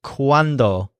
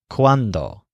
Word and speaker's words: cuando: word quando so it's quando the wand rides up this word has the stress on wand quando and it means when